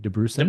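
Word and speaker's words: Dabrusin: DeBrusen.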